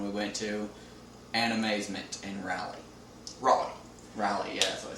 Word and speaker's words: Raleigh: the recent one we went to, Animazement in Raleigh. Raleigh, yeah, that's what I said. Yeah, Raleigh. So, it's pronounced Raleigh.